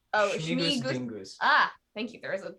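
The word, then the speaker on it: Śmigus-dyngus: I can't pronounce the accented S, but Smingus Dingus. Oh, Schmigus Schmigus. dingus.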